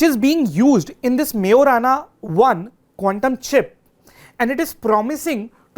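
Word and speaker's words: Majorana: बट but when it comes to Microsoft मेराना वन आप इसका spelling देखेंगे जे है बट इसका जो प्रोनंसिएशन है दैट इज़ मेराना वन।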